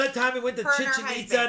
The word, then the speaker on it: Chichen Itza: time we went to chichen itza to visit the mayan ruins and he's like chichinita you say it like chicken pizza chicken pizza i was